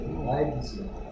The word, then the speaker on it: lives: 얘를 leaves라고 읽을 때도 있긴 있어. 근데 이 경우에는 human leaves가 아니고 뭐라고 읽어야 돼? He? Human? Lives. 왜 lives라고 읽어야 되지? live의 뜻이 아니고 life의 무슨 형이기 때문에 life의 life 할 때 I가 무슨 소리나? E. 아, 리프야? 아이가 무슨 소리나? 아이. 아이 소리나니까 얘도 똑같이 아이 소리 나야 되니까 라이브즈인 거지.